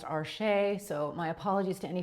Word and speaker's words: Arches: I have been told it is actually pronounced archer. So, my apologies to any French people. I live in North America and we all call it Arches here, but same awesome paper.